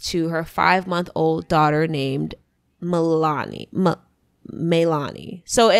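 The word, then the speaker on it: Maelanie: And at only 16, she gave birth to her 5-month-old daughter named Melani. So I think it's Melanie type of thing, but it's spelled M-A-E-L-A-N-I-E.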